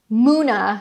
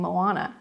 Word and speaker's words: Muna: So we've got, next up, we've got Katie, and then it's Heart of Muna. Now I know how to pronounce it, so thank you. I was saying Moana.